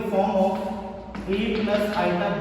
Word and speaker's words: iota: ठीक है, तो इसे I में प्रोनाउंस करोगे iota.